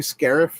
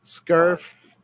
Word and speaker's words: Scarif: It's a Star Wars name, right? It's supposed to be Scarif. I wasn't going to correct you, but he did. So that's okay. I'll pronounce it that way. Scarf.